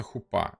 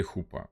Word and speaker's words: хупа: листьями и накрытая балдахином, называется хупа или хупа. Есть два варианта ударения, ну это в принципе не важно.